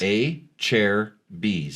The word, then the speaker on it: Acerbis: Acerbis. A chair B's. A chair B's. Thank you. Acerbis.